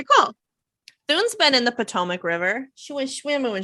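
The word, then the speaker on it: Potomac: the army of Northern Virginia um it is pronounced pomac thank you you're welcome if it was Canadian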